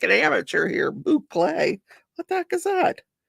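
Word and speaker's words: bouclé: Mickey says that's a boucle, mostly for intermediate to advanced, not beginners.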